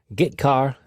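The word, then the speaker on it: getchar: character io functions are get car and put car that's how I pronounce them get car fetches a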